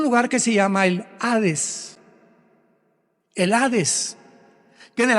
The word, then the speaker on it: Hades: Esta versión del griego, del hebreo al griego, se tradujo la palabra Seol con Hades, con H, que muchos dicen Hades. Se puede pronunciar así porque es en el griego.